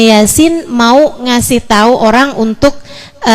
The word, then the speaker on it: Yasin: Allah biar kamu bisa ngerti bacanya ini Yasin bukan Yasa gitu ya makna yang kedua